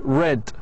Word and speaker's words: read: read read oh sorry read here in the past by the way it's pronounced like red read the present have